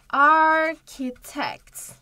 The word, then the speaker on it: architect: Architect. Bunu bazı arkadaşlarınız architect diye okuyor ama yanlış. Burası K diye okunur.